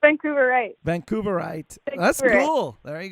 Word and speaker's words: Vancouverite: be like, I'm a Vancouveran? Is that how you say Vancouveran or Vancouverian? Or how do you say that? I'm pretty sure it's Vancouverite.